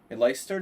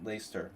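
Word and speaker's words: Leicester: I mean, Lyster. No, no, no. It was in No, he lives in Lester. Right. Leester. What do you say? Lester. Lester. Lester.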